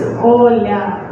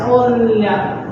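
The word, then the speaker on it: Оля: It's Oля. So it's like O, soft L, and then you have A. So it's Oля. That's how we pronounce it.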